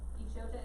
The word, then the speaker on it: Echota: Echota is correct. So, Echota? Treaty of Why do you know how to pronounce that?